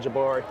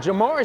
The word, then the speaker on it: Jamari: I know I mispronounced it on the coach's show. I believe I said Jabari. But Jamari Smith coming to the game.